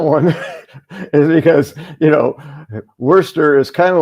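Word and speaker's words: Worcestershire: I think the whole how do you pronounce Worester Shshire sauce right? And and the response was worester.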